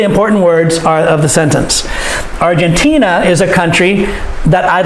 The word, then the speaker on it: Argentina: words that we stress argentina is a country that i'd like to live in argentina is a country that i'd like to live in so this dress is a argentina the third syllable argentina is a country